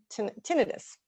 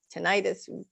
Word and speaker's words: tinnitus: sometimes it's even causing tinnitus tinnitus take your pick on how you want to pronounce it which is a ringing